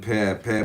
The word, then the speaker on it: Pe: on Pe, pronounced Pe, transcribed as P, the number 80, meaning mouth.